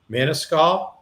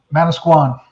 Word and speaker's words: Manasquan: So by way of introduction, Mike lives in New Jersey in the by the shore, Manasquan. Is that how you pronounce it? Manasquan. Manasquan.